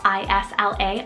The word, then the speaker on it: Isla: of a trendier one i have isla spelled i-s-l-a isla but i also have the name i